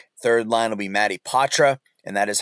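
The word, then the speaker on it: Poitras: the second line third line will be Mattie ptra and that is how you say his name ptra uh will be on that third line with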